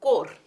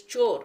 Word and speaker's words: chore: I used to pronounce this word as core. So when my teacher corrected me and she said it is chore, I actually had the